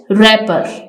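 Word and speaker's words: wrapper: एन लगाते हैं next रैपर रैपर में डब्लू साइलेंट है हम आर को देखेंगे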